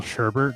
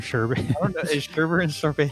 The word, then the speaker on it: sherbet: the same thing that people call Sherbert or whatever sherbet the same thing it's the Sherbert like a flavor I don't know when you said survey I'm like is that the same thing oh hey here we go it's only a few years ago when I found out it's spelled sherbet even though it has a sherbet it's sherbet oh my God okay so